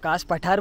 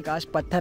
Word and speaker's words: Kaas Pathar: Okay, कास पठार बोलते मराठी में, बट हिंदी में यूजुअली कास पत्थर ऐसा रीड करते पब्लिक, बट इट इज़ कास पठार इन Marathi. Okay, and दैट इज़ हाउ you originally pronounce it.